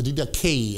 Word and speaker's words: Didache: Now, the next source is the Didache, or the Didache, as the Americans would pronounce it.